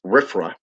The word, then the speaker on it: RFRA: restoration act which is commonly known as rfra and pronounced as riffra okay was passed in